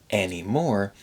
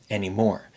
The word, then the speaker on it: anymore: pretty reduced finally anymore the r sound in anymore is pretty reduced too I notice a lot of Learners sometimes make a very strong R sound at the end of a word ending an R like anymore anymore but listen to the way he says it we don't talk anymore or or or it's